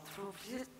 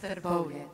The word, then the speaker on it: Trbovlje: I see we also have Jasna Gabric, who's the mayor of the municipality of Trubzic. I couldn't pronounce this yesterday either, in Slovenia. Thank you very much. It's Trbovlje.